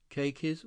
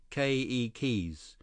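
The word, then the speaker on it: keiki: say children in Hawaiian ke keys with the accent on the first syllable okay Li ke ke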